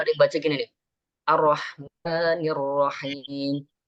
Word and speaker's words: الرحمن الرحيم: Ar-Rahmanir Rahim. Nah, itu kadang tergesa-gesa itu bacanya. Ar-Rah. Salah.